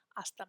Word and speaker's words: hasta: H's are always silent in Spanish.